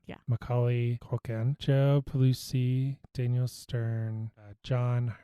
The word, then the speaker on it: Macaulay Culkin: Macaulay Culkin, Joe Pesci, Daniel Stern, John Hurd, and Catherine O'Hara.